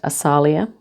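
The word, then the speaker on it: Asaliah: Um so it says here, those born and it's pronounced Asalia.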